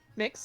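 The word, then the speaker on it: Mx.: I think the correct term is like MX for like people who don't want to go by Mr. or Miss. Mix, yeah. Wow, this is the best. This breeze feels great. I never thought to pronounce it as mix, and that's like that's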